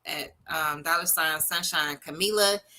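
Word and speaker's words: Kamilah: um dollar sign Sunshine Camila k-a-m-i-l-a-h that is how you say and spell my name for real for real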